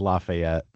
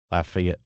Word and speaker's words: Lafayette: Lafayette. Lafayette, Louisiana. Uh there's even a university there, right? Okay. They say that the Louisiana one is Laf Lafayette. Lafayette, but now